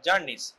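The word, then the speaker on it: Czerny: এটা জার্নিস। ঠিক আছে? C silent.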